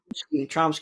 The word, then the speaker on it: Chomsky: Chomsky, yes, Noam Chomsky.